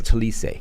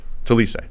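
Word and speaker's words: Taliese: pronunciation he's got pronunciations he's got the official pronunciation tiis tiis tiis fuaga right tackle from Oregon State at Pick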